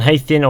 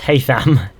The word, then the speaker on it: Haytham: Hathian, or however you spell it, or Connor? It's Haytham.